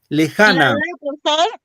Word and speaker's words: lejana: dice en so ya lejana cuando digo lejana dónde va el acento en le en ja o en na ja ja profesor muy bien ja correcto o la en o o en la la O en la o.